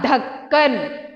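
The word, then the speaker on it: ढक्कन: Dha, ka, na. Dhakkan.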